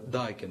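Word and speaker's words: the: പറയാൻ വേണ്ടിയിട്ടുള്ള നിയമം എന്തായിരുന്നു വവൽസ് പറയുന്നിടത്ത് എൻ പറയണം അതേ നിയമം തന്നെ ഇവിടെ ദക്കും പറയുക വൽസ് ശബ്ദിക്കുമ്പോൾ ദി എന്ന് പറയുക അല്ലെങ്കിൽ ദ എന്ന് പറയുക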